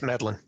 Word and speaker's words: Medlin: Is that how I pronounce it correctly? Yes, Medlin. why don't you introduce yourself? Tell us a little bit about yourself. Well, hello, everybody. Grizz, Jerry, I'm Medlin.